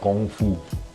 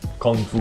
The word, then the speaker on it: Gong Fu: tea brewing is called Gong Fu. Gong Fu, like Kung Fu, you know? Okay. Kung Fu is the Cantonese pronunciation of that word. The Mandarin pronunciation is Gong Fu.